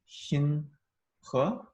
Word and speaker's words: Xinhe: it's actually in between s x is actually in between an sh and an s, Oh, so it's actually Xin. Xin, I guess. Okay, and then the second syllable is the one that's really hard because it's you spell it he, but it is not pronounced like that at all, right? It's more like you said it's huh, Yeah, it's he. huh. So your name is actually pronounced Xin he.